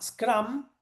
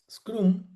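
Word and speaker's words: Scrum: La más popular es la que llama Scram. Scram se escribe como está acá. Scrom.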